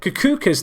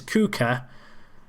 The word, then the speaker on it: Kuka: Kukuka's there. I've said his name wrong again. It's Kuka.